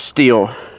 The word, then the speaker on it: Stihl: went but because now do you pronounce it still or steel i've only until he worked there i always did pronounce it still but he says steal and uh but i